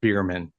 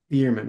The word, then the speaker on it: Bueermann: Yeah, it's pronounced Beerman. Beerman.